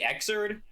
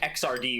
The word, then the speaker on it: Xrd: Usually people say Xerd, but I kind of like XRD more.